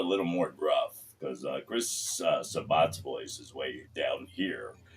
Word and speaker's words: Sabat: It's Sabat, but the running joke is we all say Sabat, just we pronounce it. Because he's so famous that we just thought it'd be funny if we fucked up his name and everybody called him Sabat.